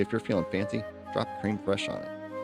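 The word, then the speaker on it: crème fraîche: It's pronounced cream fresh.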